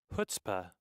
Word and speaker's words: chutzpah: Chutzpah. Chutzpah, that's right. The C is silent.